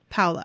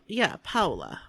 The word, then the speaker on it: Paola: Paola. I always want to say I hope that's right. Paola, but that is totally not how you say it. Like Crayola? But it's Paola. Paola.